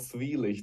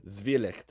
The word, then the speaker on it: Zwielicht: Your new album, which I believe is pronounced Zwielicht, if I did the best I could there. Yeah, it's a German word. It's called Zwielicht, or you could maybe call it Zwielicht Yeah. or something like this. Zwielicht.